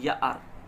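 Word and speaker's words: year: यही तो बोलते हैं, लेकिन इसका प्रोनाउंसिएशन ये गलत होता है, इसको ईयर नहीं बोलते, इसको क्या बोलते हैं, यार, यार बोलते हैं।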